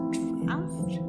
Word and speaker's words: draught: Draught, pronounced draft?